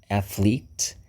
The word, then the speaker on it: athlete: na sequência o athlete o th lembra daquele drinho de colocar língua no dente e fazer o som som de cobra aquele som diferente athlete que é o o